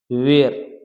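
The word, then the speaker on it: where: ठहरना चाहता हूं वेर अब ये वेर में देखो अभी एच साइलेंट है यह है वेर क्या है वेयर ठीक है वेयर आई वांट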